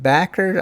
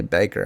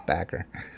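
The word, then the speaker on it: Bakker: Scott Backer. I guess that's how you say his name. I don't want to say Baker. I think it's Backer.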